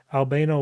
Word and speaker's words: Albano: So again, this is the Albano, how am I pronouncing this right? Albano Waite Tarot deck by US Games.